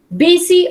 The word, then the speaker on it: busy: Busy or lazy? Busy significa ocupado. Busy, la pronunciación es busy. La U suena como una I.